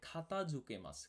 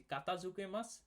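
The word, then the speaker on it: 片付けます: নারিমাসেন তারপরের শব্দটি হচ্ছে খাতাঝুকে মাছ। খাতাঝুকে মাছ। এই যে ক এর জায়গায় আমি খ ব্যবহার করেছি। কাতাঝুকে মাছ সেটাও হবে কোন সমস্যা নেই। তবে এটার সুন্দর উচ্চারণটা হচ্ছে খাতাঝুকে মাছ।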